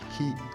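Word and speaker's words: 火: Par exemple, ce sera Yama pour montagne et hi pour le feu.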